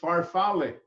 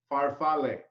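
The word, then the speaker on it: farfalle: Bai pasta right whatp pasta in Italy is faral okay faral okay say say it again Chef pronounce say it again faral f a r f a l l e faral here we know it as aai the other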